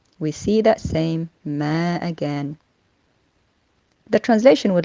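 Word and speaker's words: ما: the word in question in the verse is mer which simply means what as the translation correctly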